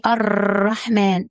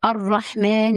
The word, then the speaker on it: الرحمن: الراء هنا مشددة ومفتوح يعني مفخمة، وفي نفس الوقت لازم تنتبه لعدم تكرار الراء بشكل مبالغ فيه، يعني ما نقولش الرحمن، قولها بضم واعتدال الرحمن الرحيم.